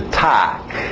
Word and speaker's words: talk: Continuando, mais um verbo que tem o L, mas o L é mudo. Okay? Então, escrita aí, vai nessa escrita. To talk.